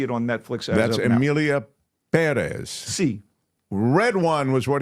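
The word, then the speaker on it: Pérez: Amelia Perez, or Perez, because the accent is on the first syllable.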